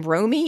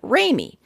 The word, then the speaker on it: Romy: new people i found i have to say my name romy in an american accent so that people understand me otherwise they think i'm saying raymie similarly i spent time